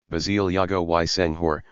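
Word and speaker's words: Basile Diogoye Senghor: His father, Basie Diogoye Senghor, pronounced, Basie Diogoye Senghor, was a wealthy peanut merchant belonging to the bourgeois Serer people.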